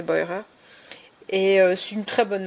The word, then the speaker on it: Beurer: Alors je sais pas si on dit Boirer en français, mais je pense qu'elle doit se prononcer Boirer.